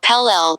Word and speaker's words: Pele: powerful factors pele in the hawaiian religion pele pronounced pl pelle the fire goddess is the goddess of fire